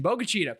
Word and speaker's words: Bogalusa: Same thing for Bogalusa. I wrote it down the correct pronunciation, Bogalusa.